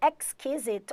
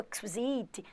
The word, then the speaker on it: exquisite: Teacher, exquisite ou exquisite. Tem gente que fala rápido, né? Exquisite, exquisite, exquisite. Tem várias pronúncias para essa palavra que são corretas.